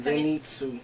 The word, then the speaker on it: Zenitsu: Well, it's a Z, not an S.